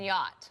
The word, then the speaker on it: yacht: The sea is silent in yacht.